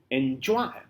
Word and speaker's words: enjoy: is stressed for example when say enjoy enjoy when enjoy number two two syllables are there and you are putting is stress on the word Joy not an N NJoy so the first syllable is n the second is Joy n is not given that much emphasis